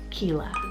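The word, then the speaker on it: Qila: This is probably one of my top names on the list, and that is the name Kila, spelled Q-I-L-A.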